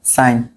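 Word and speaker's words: sign: আই জি এন এটা কি এটার উচ্চারণ কি সাইন ঠিক আছে এটা কি সাইন কারণ আমাদের মনে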